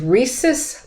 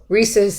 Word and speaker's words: rhesus: okay let me uh he he did work with rhesus monkeys reese's is spelled r-h-e-u-s so it's not like the candy so there's a little